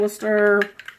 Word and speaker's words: Worcester: and brown sugar and Worcester. See, she called it Worcester because you. she knows that's the right way to say it.